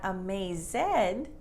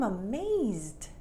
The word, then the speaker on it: amazed: ed but loved loved a maze is not a maze zed but i'm amazed it's kind of when